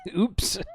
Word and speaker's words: Opus: Opus pronounced closer to oops. Oops.